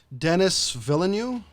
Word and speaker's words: Denis Villeneuve: Hold on, I can't never pronounce this dude's name. It's Denis Villeneuve, Villeneuve.